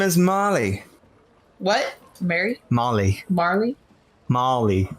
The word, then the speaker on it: Mahly: Her name is Molly. What? Mary? Molly. Marley? Molly. Molly? Yeah. his girl. It's spelled M-A-H.